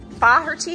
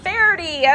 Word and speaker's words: Faherty: key slope Outdoors so inside of Pho her tea is that how you say it Verity okay I was totally botching that but inside of fairy